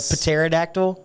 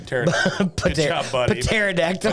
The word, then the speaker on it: pterodactyl: eye and I said paterodactyl which no the p is silent yes pterodactyl I don't know why